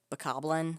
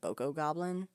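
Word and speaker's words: Bokoblin: there like a boku a bakoblin i think is how you actually say it but i always pronounced it boko goblin so i always say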